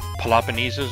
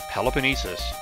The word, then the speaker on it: Peloponnesus: I was like Peloponnesus or something, like, or Peloponnesus or something like that. I was like, what? That's not right. That's not enough syllables. It's Peloponnesus.